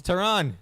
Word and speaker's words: Theron: It's Tehran. That's Charlize Theron.